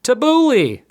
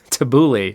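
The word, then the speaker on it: tabbouleh: this right hold on let's look at the pronunciation tabouli tabouli thanks Google tabouli was the answer there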